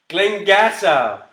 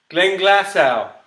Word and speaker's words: Glenglassaugh: Glenglassaugh. Glenglassaugh. Didn't even say it properly the first time.